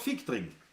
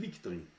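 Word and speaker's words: Viktring: Das Aber man sagt Fickdring und nicht Wickdring.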